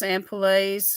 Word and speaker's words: ampoule: Those ampoules or ampoules. I call them ampoules. I like to say it like the French would say it, ampoule. Makes it sound more bougie.